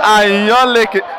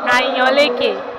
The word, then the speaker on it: Ayanleke: All right, I'm here with Ayanleke. By the way, did I pronounce that well? Ayanleke. Ayanleke.